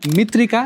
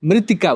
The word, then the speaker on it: मृत्तिका: छन् बुद्धता यसको एउटा शब्द धेरैले गलत उच्चारण गरेर गाउछ यही प्यारो मित्र मित्र तर भक्तराज आचार्यको स््र र संगीत रहेको खास गीतमा यहाँ मित्रिका वा मिट्टिका हैन मृतिका भनिएको छ हे प्यारो मृतिका